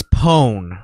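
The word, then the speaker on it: pwn: do you say that it's it's pone pone like like corn pone I knew that I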